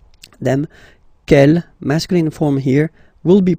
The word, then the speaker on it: quel: Quel here, feminine singular, will become quel with the S, feminine plural. And the good news is that you will pronounce them the same way. All right, so quel, quel, quel, and quel. Okay, remember that in some